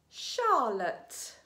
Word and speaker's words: Charlotte: And the final alternative pronunciation for the grapheme CH is sh. Let's read some words. Sh-f, chef, the name of a woman or a girl. Charlotte, machine, chalet.